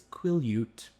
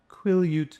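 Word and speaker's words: Quileute: Oh, also I figured out how to pronounce the native tribe. It's Quillute. Oh, sweet. Quillute. Quillute.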